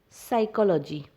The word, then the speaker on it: psychology: For example, psychology. The word psychology starts with P, but the P is silent, and so we spell it as psychology.